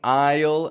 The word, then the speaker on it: aisle: out of the walkway the key to pronouncing Isle as clearly as possible is getting that Wide Glide in the middle I can't stress that